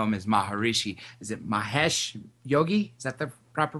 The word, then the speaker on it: Mahesh Yogi: I just know him as Maharishi is it Mahesh Yogi is that the proper pronouncing pronunciation of his name that's right Dr